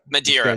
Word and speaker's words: Madeira: Am I pronouncing your name correctly? Yeah, Madeira. Madeira.